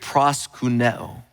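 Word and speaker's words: προσκυνέω: men were doing is a word that is pronounced in the Greek, proskuneo.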